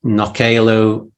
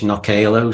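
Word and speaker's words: Knockaloe: Man, their website is knockalo.im. It's a funny word. It's a mixture of Manx and the Norse Viking language Knockalo. So it's spelled Knockale. Knockalo.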